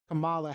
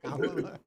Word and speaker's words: Kamala: was talking about when he was talking about Kamala Harris, and he was saying, it's a thing of nightmares. Liz is big on pronunciation. Kamala, I said it right. Okay, oh, Kamala, right. I said it wrong. Kamala.